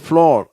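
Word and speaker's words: floor: இது ஒன்று மட்டும் கொஞ்சம் உச்சரிப்பு மாறி இருக்கு. இது இந்த பக்கத்தில் வந்துருச்சு. ஆனால் இதனுடைய உச்சரிப்பை நான் இப்போ சொல்லிடுறேன். இது இந்த பக்கத்துக்குரியது இல்லை, இருந்தாலும் இருக்குது. இது வந்து ஃப்ளோர் அப்படின்னு வாசிக்கணும்.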